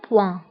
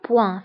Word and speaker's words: point: نقطة هي un point, un point. فانتبهوا بالنسبة البوان كنكتبوها دائما بالتي في آخر الكلمة، ولكن هذه التي لا تنطق، تنقولوا un point.